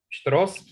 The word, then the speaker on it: Pštros: Pštros s pštrosicou a pstrosičatmi. So strosishami. No. Pštros. It's hard to pronounce sh after the p letter, like psh, right? Pštros. Because there are no vowels.